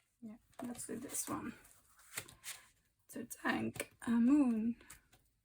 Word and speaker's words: Tutankhamun: To thank a moon. Apparently that's how you pronounce it.